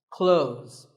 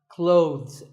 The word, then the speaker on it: clothes: word is not cloths when we say clothes the th in the middle can often be silent close but it's not wrong if you say these letters with a the sound clothes that's also correct in some words people